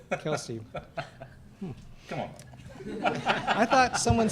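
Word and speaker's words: Kelce: with Jason and Travis Kels. Is it Kels or Kelsey? Kelsey.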